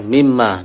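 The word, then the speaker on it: مِمَّا: Si surat Al-Baqarah ayat 30 itu yang tulisannya minma atau mimma dibacanya.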